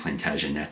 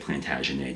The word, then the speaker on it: Plantagenet: And even though they used to pronounce it, I think, Plantagenet sometimes, but you have to say it Plantagenet to rhyme with lay.